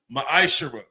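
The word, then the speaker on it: מעשר: Tithes, which is a commandment, book of numbers, chapter 18 verse 21, book of Malachi chapter 3:es 8-10 means 10th in the Hebrew is pronounced maisher 10% of every penny of any increase the lord gives you.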